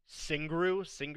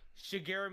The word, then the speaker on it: Shigeru: So yeah, they the creator Singru is that how you say it? Shigeru Miyamoto.